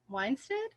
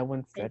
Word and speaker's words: Winstead: And then the actress who plays her is Elizabeth Weinstead. Yeah, I Winstead.